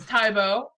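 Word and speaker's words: Tai-bo: uh his name is tybo like the martial art but instead of going up at the end you go down uh it's spelled t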